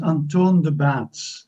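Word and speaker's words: Antoon De Baets: i want to turn to uh i'm sorry anton de bets is that right yeah good afternoon uh my name is anton the bats that's the correct pronunciation but i do not blame you because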